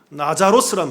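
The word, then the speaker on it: Λάζαρος: 나사로, 이 헬라어로는 나자로스란 말입니다. 이게 헬라어지만 이건 원래는 히브리어예요. 히브리어 발음으로 얘기하면 이건 엘 아자르라는 말이에요. 엘 아자르라는 말이 히브리어인데 신약의 언어인 헬라어로 말하면 나자로스, 나자로라고 얘기한다고요.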